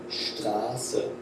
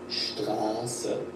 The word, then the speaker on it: Straße: For example, Straße, Straße, street. And this is a special type of S sound, Straße.